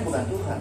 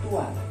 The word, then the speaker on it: Tuhan: konsep Gusti dan kaulo Tuhan orang membacanya bukan Tuhan tapi Tuan ya maka yang ada hanya budak dan Tuan slave and master jadi Tuhan dulu bacanya tua sama dengan tahu tahu